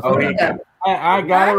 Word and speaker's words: Oheka: So is there no pronunciation of that word then, or what? How do you say it? No, it's Ohika. Yeah, that's how it's Ohika.